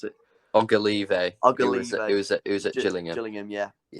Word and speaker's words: Ogilvie: For me, that would be, is it Conor Oglive? How do you pronounce it? Ogilvie.